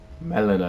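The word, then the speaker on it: Melina: from Beyond the fog I am melan melan that's how you pronounce it okay I remember I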